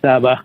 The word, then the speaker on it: Saba: Is it Saba or Saba from Massachusetts? Can you hear me? Yeah, you can call me Saba.